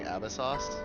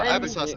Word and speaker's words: Abyssos: I've been saying Abyssos. Because that's how it's pronounced in Genshin. Well, Abyssos is how it's pronounced in Genshin, right?